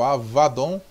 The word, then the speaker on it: Abaddon: De acordo com o léxico Brown Driver Briggs, o hebraico Abaddon, que poderia ser pronunciado em hebraico Avadon, é uma forma intensiva